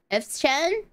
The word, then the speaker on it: F-Chan: F-Chan. F-Chan? F-Chan. F-Chan, yeah. Okay. Like C-H-A-N.